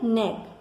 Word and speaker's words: knee: नी की स्पेलिंग में हमेशा जो के है वह साइलेंट रहता है, इसलिए इसे नी बोला जाता है।